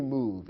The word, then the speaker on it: move: the verb to move it ends with a silent E although the E is there we don't pronounce it we don't say move in in English simply move it's as if the E wasn't present so we consider it